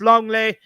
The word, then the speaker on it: Lenglet: love it you'll find long layers pronounced uh langley is pronounced longley which sounds like most people's idea of a